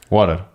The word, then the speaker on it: water: E luego el PR ya ellos sí que sería mucha la T se cambia por una R. Sí, como una R muy suave.